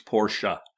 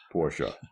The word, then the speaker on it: Porsche: Like the family prefers Porsche. Porsche. Okay. I just didn't see the A at the end of it. Well, the E is pronounced A. It's pronounced. It's not there, but it's pronounced.